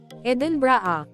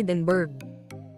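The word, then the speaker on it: Edinburgh: itinama nila ito na common mistake raw talaga na dapat daw ay Eden bra at hindi edinburg habang nasa naman ay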